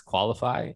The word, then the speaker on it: Qualifi: know this is audio based so uh it's qualify um and it's spelled with an i instead of a y